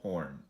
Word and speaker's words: Horne: the infiltrator hue wall horn and yes folks the e is silent the yes I just